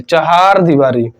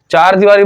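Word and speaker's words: चहारदीवारी: हैं कि चार दीवारी लेकिन होता क्या है चहार दीवारी चार दीवारी बोलते हैं लेकिन होता है चहार दीवारी तो लिख एकदम सही सही वाला लिखिए आप लोग चहार दीवारी चहार दीवारी लेकिन अ उच्चारण क्या करते हैं कि चार दीवारी चार दीवारी तो आपका गलत हो जाएगा चार दीवारी गलत है चार दीवारी आपका एकदम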